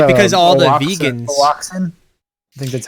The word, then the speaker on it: Oaxacan: It'd be Oaxacan. Oaxacan? Is that how you say it? Yeah. Yeah, the X is silence.